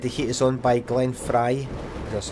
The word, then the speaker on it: Glenn Frey: I just said The Heat Is On by Glenn Frey.